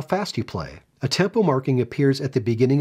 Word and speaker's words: a tempo: to gradually speed up atempo and that's how it's pronounced atempo means to resume whatever